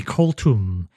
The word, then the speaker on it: Koltum: it tom koltum colton well i can decide how it's pronounced cold tum yes the name will be koltum which also sounds vaguely